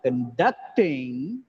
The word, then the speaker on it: conduct: police the police are conducting area conducting in the word conduct there are two syllables the second syllable is stressed conducting is